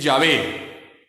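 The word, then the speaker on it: Yahvé: saber hermanos es que la pronunciación correcta es llave y jehová es un artificio hoy en día ningún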